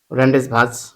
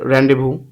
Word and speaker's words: Rendezvous: 15 হচ্ছে খ নাম্বার রেন্ডেস ভাজ উচ্চারণ হচ্ছে আসলে রেন্ডেভবু মনে রাখার জন্য রেন্ডেস